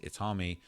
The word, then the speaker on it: Itami: And it says the character you see here today is named Itami, pronounced Itami, which means pain in Japanese.